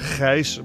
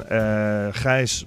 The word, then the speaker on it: Gijs: I know it's difficult to pronounce Gijs, because in Dutch is alles g.